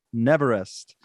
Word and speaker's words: Neverest: member of an award-winning pop rock band called Neverest.